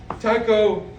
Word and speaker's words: Tycho: I'm Tycho Brahe, but in Denmark we pronounce it Tycho.